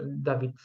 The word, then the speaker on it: Dawid: And By the way, as W is pronounced like V in English, so exactly, it's like German in that sense.